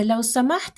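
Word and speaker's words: لو سمحت: Вот это «ляу самахт» я советую произносить как «ляу самахт». Конечно, по грамматике мы будем правильнее говорить «ляу самахта» или же «ляу самахти», но мы можем просто просукунировать окончание и одинаково обращаться как к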